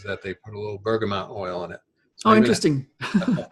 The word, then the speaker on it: bergamot: One of them is an essential oil called bergamot.